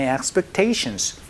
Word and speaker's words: expectation: 여기서 여러분 기대하다라는 동사는, 그렇죠, expect 이렇게 발음하지만 기대라는 명사가 되면은요, 앞에가 expectation 액 소리가 나니까 요거 조금만 주의를 해주시면서 연습 한번 해보도록 할게요.